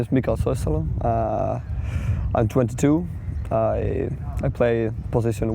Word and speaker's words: Soisalo: Soisalo. You said it right.